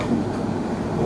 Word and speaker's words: coup: So you have to ensure that the correct pronunciation is coup, not coup, Okay, sir.